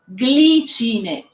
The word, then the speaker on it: Glicine: And you pronounce it glicine.